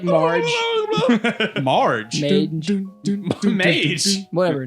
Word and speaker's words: Marge: Is it Mage from Simpsons? Marge.